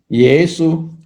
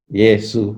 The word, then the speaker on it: 耶穌: Ya ini bacanya ye ya, ye ya. Su bacanya Yesu. Ya di bagian selatan sini suka baca ye ya. Tapi ya nggak apa-apa lah ya. Yesu ya, Yesu.